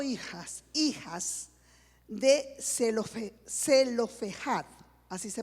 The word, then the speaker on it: Zelofehad: Allí narra que 5 hijas de Zelofehad, así se pronuncia, Zelofehad, quien había muerto en el desierto, se presentaron ante Moisés.